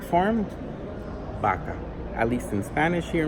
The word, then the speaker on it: vaca: The word cow in Spanish, a very popular one, is vaca with a V. But a lot of people pronounce it vaca, not vaca. Which is the correct form? Vaca.